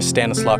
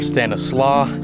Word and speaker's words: Stanislaus: bridge right here in stanislaus county some people say stanislaus i prefer stanislaw because it was named after a native american chief and stanislaw is a little bit closer to the actual pronunciation in 2012 it was